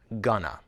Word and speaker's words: gonna: usually write want to we also often blend going and two together we blend these words together when we use going to with a verb to talk about the future we say the two words together as one word gonna listen I'm gonna stay